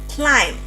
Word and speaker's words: climb: not dumb It is climb not climb. not climb Okay.